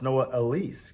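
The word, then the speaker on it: Noah Elliss: So I just found out it's pronounced Noah Elise.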